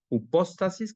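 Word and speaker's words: ὑπόστασις: La palabra certeza, dice aquí, del griego hupóstasis con acento en la O, significa literalmente pararse debajo.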